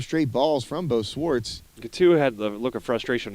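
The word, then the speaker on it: Cattau: Katow? Katu. Katu. Oh, my bad. Been saying it wrong all day.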